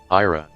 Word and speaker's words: Ira: Click to listen to the name. Ira. Oh, I was pronouncing it right.